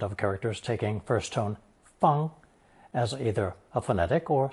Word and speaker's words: 方: This will be the sixth and final installment of characters taking first tone fang as either a phonetic or semantic element.